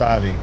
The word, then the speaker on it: Ive: It's pronounced Ivy.